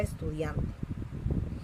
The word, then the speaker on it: estudiante: Dian, esta es la sílaba tónica, excelente.